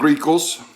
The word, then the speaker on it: Ricos: I got Ricos.